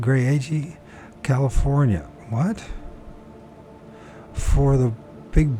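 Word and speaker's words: Graeagle: Last weekend, a group from our church went up into the mountains near Gray Ag, that's how you pronounce it, Gray Ag, California.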